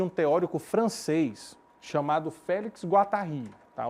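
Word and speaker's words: Guattari: teórico francês chamado Félix guatarri tá o nome dele se pronuncia assim se escreve Félix Guari mas se pronuncia guatarri porque ele é francês e os três sentidos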